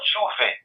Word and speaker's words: J'ouvert: So is it the Jovert? How do you pronounce the name of the new EP? Oh, the new EP is gonna be called Juve, right?